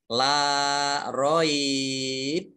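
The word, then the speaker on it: لا ريب: Kalau berhentinya di sini di roib ini, maka bacanya la roib. Tapi kalau berhentinya di fihi, maka dibaca la roiba fih. Kalau ini berhenti di roib, maka ini baknya ini dibaca kolkolah. Kolkolah itu memantul.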